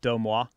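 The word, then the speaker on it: Deuxmoi: don't think you do it's called domwa i don't think so moi this is spelled d-e-u-x-m-o-i if you're really into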